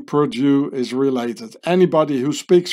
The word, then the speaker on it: perdue: by Purdue and here says Perdue in French which gets pronounced Purdue exactly like this here and just don't